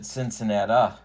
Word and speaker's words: Cincinnati: at riverfront stadium in cincinnati or if you're sparky anderson you pronounce it cincinnata all right and first